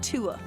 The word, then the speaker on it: Tua: Is just Tua. 3 letters, 2 syllables.